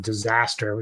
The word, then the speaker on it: Dizazter: That's something I just learned, but he goes by the name of Disaster. It's spelled Dizazter.